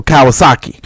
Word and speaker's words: Kawasaki: It sounds like the motorcycle Kawasaki.